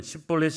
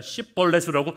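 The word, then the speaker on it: 쉽볼렛: 그러면 십볼렛이 아니라 십벌렛으로라고 자꾸 발음을 하는 거예요.이 사투리로 인해서 에브라힘은 정체로 숨기지 못하고 다 잡힙니다.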